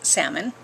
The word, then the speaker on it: salmon: I love how everybody says the L is silent, people. It's salmon, the little fish that swims upstream.